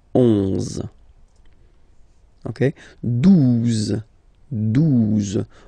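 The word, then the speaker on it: douze: 12, 12, O, U, the two together will give you the sound OO, okay?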